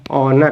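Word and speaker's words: honour: ईमानदार ईमानदार ऑनेस्ट इसके बादय देखिए क्या है ओनर है क्या है ओनर ओनर ठीक ना ओनर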